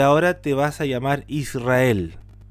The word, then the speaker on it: Israel: te vas a llamar Israel. Que en otras traducciones, con las mismas letras de la palabra Israel, tiene otra pronunciación. También yo puedo decir Yasharel.